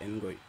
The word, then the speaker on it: Ngoy: Je préfère prononcer à la congolaise. Natangoy. Même si c'est Ngoy.